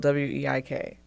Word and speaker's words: Weik: And Weik like bike, even though it's spelled W-E-I-K.